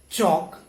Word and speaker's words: chalk: Similarly, we do not pronounce this L as it comes before letter K. Okay, so walk, talk, chalk.